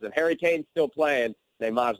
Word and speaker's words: Neymar: Neymar's not. So let's get your picks I here. love the pronunciation too. Give me it again. Neymar. It's almost a Nomar.